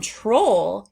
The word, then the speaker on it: troll: Pull and troll have the ending and that is the more common ending for Oll words. You have pole, troll, toll, roll.